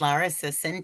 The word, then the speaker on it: Lara Sison: Hampton and my partner Erica Silvers and our guest today is Lara Sison. Did I pronounce that correctly?